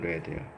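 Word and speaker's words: read: 리드도 과거형이 스펠링은 리드 똑같지만 발음만 이거는 레드요.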